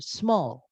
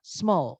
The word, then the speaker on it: small: contoh kata kecil itu Small ya jadi bacanya cuma small sekali doang ya bukan small ya teman-teman jadi itu bacanya sekali yaitu small gitu jadi s sama m nya itu Gabung small gitu itu nanti untuk bilang